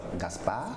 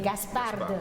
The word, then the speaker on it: Gaspard: L'anniversaire d'aujourd'hui, c'est en fait tous les natifs d'aujourd'hui, on peut leur donner soit Gaspard, soit Balthazar, soit Melchior.